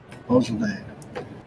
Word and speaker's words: Beaujolais: Looks very French. Beaujolais. AIS. Very French. EAU.